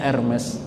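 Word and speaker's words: Hermès: Ya, ada satu jenis tas yang sangat mahal dari kulit buaya, namanya Hermes, tulisannya Hermes, bacanya Hermes.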